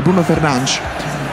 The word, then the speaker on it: Bruno Fernandes: un uomo non da nulla come Bruno Fernandes, pronuncia corretta, Bruno Fernandes.